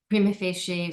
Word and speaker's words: prima facie: what is considered a prima facie determination. Prima facie, sometimes pronounced prima facie, means at first glance.